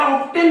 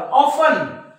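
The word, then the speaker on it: often: म्हणतात लिसेन आपलं लिसन तुम्ही याला ऑब्टेन म्हणतात का नाही ऑब्टेन नाही म्हणत तुम्ही त्याला ऑफन ऑफन बघा टी सायलेंट आहे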